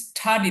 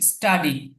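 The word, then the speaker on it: study: এই যে এখানে দেখুন, এখানে যদি বলি স্টাডি তাহলে কিন্তু হলো না, এখানে এখানে উচ্চারণটা কি হবে? স্টাডি, স্টাডি, অধ্যয়ন করা, কারণ কি এস এবং টি একসাথে এসছে, এই কারণে এটা বাংলা ট এর মতো উচ্চারণ হবে, টি এর উচ্চারণটা।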